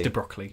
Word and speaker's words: de Broglie: If you are confused, it's de Broglie as his French pronunciation, but de Broglie is really I like de Broglie. It's de Broglie.